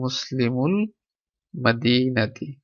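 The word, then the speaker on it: مُسْلِمُ الْمَدِينَةِ: তাহলে মুসলিমুল মাদিনাতি, এখানে হামজাতুল ওয়াসিল এটা উচ্চারণ হবে না, তাহলে এখানে হবে মুসলিমুল মাদিনাতি।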